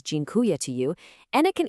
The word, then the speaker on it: dziękuję: Dziękuję. It's pronounced roughly dziękuję.